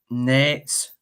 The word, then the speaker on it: Nantes: Nantes. Yeah. Your pronunciation is better than mine, since you all took the mickey out of me saying ranking.